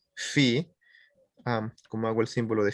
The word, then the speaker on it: phi: Esto de acá se pronuncia así, phi. Se escribe phi, así PHI, pero se pronuncia phi.